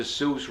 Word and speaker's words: Seuss: heard of dr seuss dr seuss rhymes with silly goose it also rhymes with obtuse which could be the